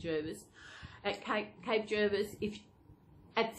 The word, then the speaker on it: Jervis: felt je RB is I asked the person in the shop how do you pronounce it he said Gervais okay cape jervis if